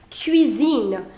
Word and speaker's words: cuisine: in the first slide cuisine now will you apply the accent no you will not why because the pronunciation is cuisine you don't want to change the pronunciation from ker to sir you want to keep